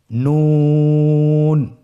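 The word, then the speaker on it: نون: নুন হরফটি উচ্চারণের ক্ষেত্রে অবশ্যই পাতলা করে উচ্চারণ করতে হবে এবং 3 আলিফ টেনে পড়তে হবে। আপনারা আমার সাথে বলুন নুন।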